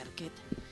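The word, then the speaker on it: Arquette: protagonizada por Patricia Arquet, creo que se pronuncia Arquet, exmujer de Nicolas Cagees, para dar más datos.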